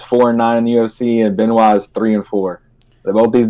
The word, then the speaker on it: Benoit: Tim Elliott versus Ryan Benoit. I hope that's how he pronounces it. I'm from Louisiana. That's how we pronounce him down here. So we're going to say Ryan Benoit. But yeah, man, we got